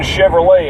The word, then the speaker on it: Chevrolet: you course then again Chevrolet ends with the letter T and it's not even pronounced yeah how American is